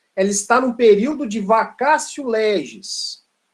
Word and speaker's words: vacatio: Escreve vacatio, mas no latim, o TIO tem som de, ao invés de tio, tem som de cio. O ti aqui tem som de si. Então, por isso, a pronúncia vacatio legis.